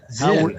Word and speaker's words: Zinn: Harold Is it Zine or Zine? I never pronounced his name correctly. Zinn.